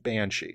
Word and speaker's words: Banshee: So if you wanted to actually like spell it out, it would be BAN apostrophe SIDHE, but it's pronounced Banshee.